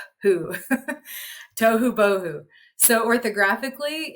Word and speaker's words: tohu bohu: First, we're going to analyze it on the syllable level. Tohu bohu. We have 4 syllables in that word. Lots of phonemes when we're breaking down those syllables, but we have some repeating phonemes, right? To, so we have to, oo, ba, o, oo. Tohu bohu.